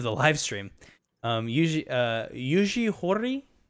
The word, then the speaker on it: Yuji Horii: interview portion of the live stream um uh yuji horii yugihori this is how you pronounce it the dragon quest creator did let